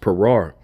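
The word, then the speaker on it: פרר: Even when you go into this word disappointed here in the Hebrew, that word is pronounced parar.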